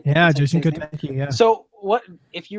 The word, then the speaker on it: Jason Kotecki: Yeah, Jason Kotecki.